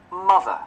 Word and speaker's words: mother: Mother. Mother. À, không có mó, không có mó à. Mớ, mớ, ớ, ớ. Đó.